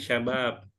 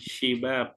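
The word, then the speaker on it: شباب: ketemu lagi bisa kemarin Bacanya syabab apa syabab sya bukan syibab ya istaga Jadi sekarang ketemu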